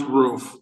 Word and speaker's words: Ruff: Ruff? It's pronounced roof, long U, silent E.